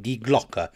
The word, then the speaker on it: Die Glocke: Now, I'm pretty sure I've pronounced that right, Die Glocke. It's German for the bell.